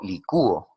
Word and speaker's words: licúo: Pero ¿qué pasaría si yo pronuncio licuó? Yo licúo ahora, en este momento, ya no en el tiempo pasado. Entonces, en licúo, ahí vemos que sonaría más la vocal cerrada, inmediatamente lleva tilde, no